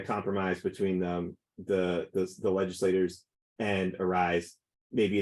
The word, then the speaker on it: ARISE: They pronounce it ARISE, even though it looks like REAs to me, but they have a